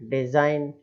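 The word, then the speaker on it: design: अब नेक्स्ट है डिज़ाइन, ये भी वर्ड बहुत बोलते हैं हम, डिज़ाइन, है ना, तो इसमें भी वही एन के पहले जी आ रहा है, इसलिए जी वहाँ पर साइलेंट हो गया, है ना।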